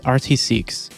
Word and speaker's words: rtcqs: I always make sure to set up is RT seeks and yes that's how you pronounce it basically it's a python script that